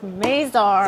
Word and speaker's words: Mazar: It is pronounced Mazar. It is Mazar.